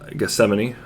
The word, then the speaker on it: Gethsemane: said was uh the garden of uh uh gethsemane i just found out that's actually how it's supposed to be pronounced i was mentioned which was where jesus